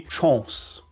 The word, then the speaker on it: Chance: german correct then well you have to say it more closely to the french pronunciation closer to the french presentation which would be chance hm not the shanks